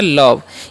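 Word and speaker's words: love: व तो हो गया लव यानी कि लास्ट वाला इ का चन नहीं होता है ओ का उच्चारण होता है ठीक है क्यों होता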